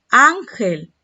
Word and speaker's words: ángel: Ángel. ¿Dónde está la mayor intensidad? ¿Dónde está el acento? En la sílaba an, la penúltima.